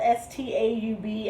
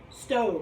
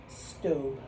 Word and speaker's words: Staub: the staub pan made in france it's spelled s-t-a-u-b and pronounced staub no stove i'm sorry it's pronounced stove you want to say style because that's what you think you see but it's actually pronounced stobe so this is the stove grill pan it's